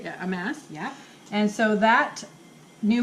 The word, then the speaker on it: Amass: Yeah, Amass.